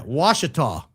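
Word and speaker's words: Ouachita: Is that how you pronounce it? It says it on the bottle. How to Wachita. Say it on the front of the back. It says it on here somewhere. Yeah, Washita. The Washita Mountains.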